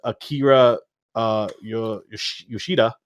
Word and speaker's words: Akira Yoshida: So he then started writing stories as Akira Yoshida. I believe that's how you pronounce it.